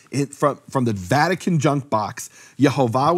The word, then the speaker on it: Yehovah: Yehovah with the full vowels. That was known to be the pronunciation of his name.